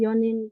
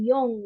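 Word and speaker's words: 四人: Tapi pengecualian untuk cara baca yang empat orang itu bukan yong ya, tapi yo, yo, nin, yo, nin. Kayak yang jam kan jam 4 itu yoji ya. Jadi bukan yongji, yoji.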